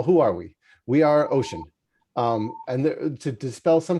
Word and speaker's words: OSHEAN: are we we are ocean um and to dispel some confusion right off the bat uh our name is pronounced ocean like the ocean like the state like two thirds of the planet we're not egotistical enough